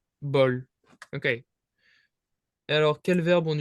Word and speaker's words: bol: You just wouldn't pronounce the W, you just say bol.